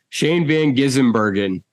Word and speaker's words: Shane Van Gisbergen: Shane Van Gisbergen. Like, what? It's not hard. It's really not. It sounds how it's spelled. Sound it out.